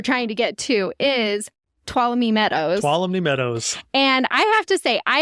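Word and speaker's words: Tuolumne: main place you're trying to get to is twam Meadows twam Meadows and I have to say I have pronounced that name wrong my entire life and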